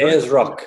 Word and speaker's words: Ayers Rock: You say pronounce Ayers, right? Ayers Rock, that's right.